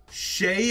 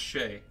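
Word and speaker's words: Skjei: a little streaky orange neon nice card though Shay is how you pronounce that dudes last name SK jei who the hell would ever think that's pronounced Shay that's a wild last name alright baits first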